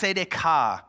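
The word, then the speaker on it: צדקה: In Hebrew, it's pronounced tzedakah. It's right, equitable relationships between people, no matter their social strata. This is the idea of righteousness, tzedakah.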